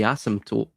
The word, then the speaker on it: asymptote: If you look at Bloch's quantum sphere, which also can be, by the way, that's also the asymptote, or the, could you pronounce it, Reagan?